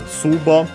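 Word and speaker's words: 壺: There's a Tsubo, unaccented, from which means pot, jar, base, bus, however you pronounce it yourself.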